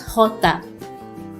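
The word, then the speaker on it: jota: h hola hola let's letter j is pronounced as hota hota a mix of ka and her but h is more prominent now in case you're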